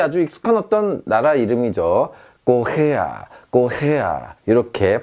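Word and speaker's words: Korea: 꼬헤야 이렇게 발음하시면 되겠습니다.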